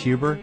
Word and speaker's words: Huber: Dean Stanton so your last name is pronounced Huber yeah Huber that's right and you directed